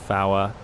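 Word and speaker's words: four: You're supposed to pronounce it Fawa, things like this.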